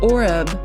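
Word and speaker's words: עֹרֵב: And the word raven in Hebrew is pronounced oreb, but I wanted to look at the root word for raven or oreb, and that word is H6150, and that word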